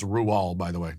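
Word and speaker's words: Roald Dahl: rual doll's book the witches yes it is pronounced ruel by the way not roll in the movie hathaway's character is which i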